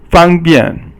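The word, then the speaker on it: 方便: the next character is fang bian. Fang is yi sheng, and then bian is si sheng, and yi sheng is first tone, and si sheng is fourth tone again.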